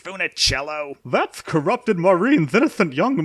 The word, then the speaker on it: Funicello: new photos of a metformicello she was so pretty and taunted hey Maureen what's all this about girls in bikinis and isn't it pronounced Funicello that's corrupted Maureen's innocent